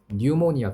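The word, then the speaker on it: pneumonia: 감염을 예방하는 것부터 뉴모니아. 피가 무음이에요. 라틴어거든. 뉴모니아라고 읽어요. 폐렴입니다.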